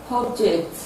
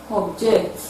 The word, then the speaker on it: object: both noun and verb, the noun will have its stress on the first syllable, while the verb will have its stress on the second syllable. Examples include object, object, project, project, convert, convert, desert, desert, permit, permit, reserve, reserve.